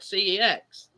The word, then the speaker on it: CEX: that's what it's called, CEX. Yeah, but it's become a joke, hasn't it? There's no other way of pronouncing it other than the same as the SEX.